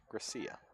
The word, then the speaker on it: Gracia: Ines Gracia. It's just not Garcia? I mean, it's G-R-A.